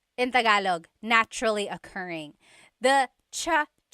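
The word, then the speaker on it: tsaa: good almost polyglot said it's like the word cha cha in theog is tea like the tea that you drink and it's spelled TSA a cha cha that's such a talog spelling I love it there's the TS sound and then the double vowel uh pronunciation cha it's so talog yes very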